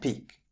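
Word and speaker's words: pique: To finish with this part and the unit as a whole, we have peak, peak, and peak. Peak as a noun, P I Q U means to stimulate interest, curiosity or resentment in someone. Peak as a verb.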